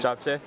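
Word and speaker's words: 잡채: Japchae.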